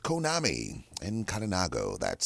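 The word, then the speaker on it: Conami: day for today and today's kalinago word is Konami that's Konami and uh that's spelled c n a m i c o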